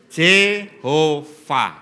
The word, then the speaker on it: Jehova: ya wedok toh ya j h V H bacanya Jehova makanya di situ seharusnya